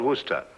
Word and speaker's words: Worcester: something else too dark but it's spelled w-o-i-c-e-s-t-e-r we're a system oh yes I see yes Lord Worcester mm-hmm his mind be